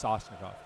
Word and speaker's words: Sashnikov: I might have been pronouncing Shashnikov. It's Sashnikov.